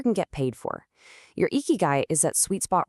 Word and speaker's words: ikigai: And that philosophy has a name, eeky guy. That's pronounced eeky guy.